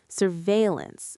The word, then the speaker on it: surveillance: Surveillance, stress on the second syllable.